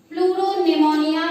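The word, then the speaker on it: pleuropneumonia: बोली जाती है PPLO, प्लूरोनिमोनिया like organism. प्लूरोनिमोनिया like organism प्लूरोनिमोनिया like organism. इसमें बोलने में पी साइलेंट होता है, लेकिन स्पेलिंग में पी होता है, लेकिन बोलने में ये साइलेंट होता है।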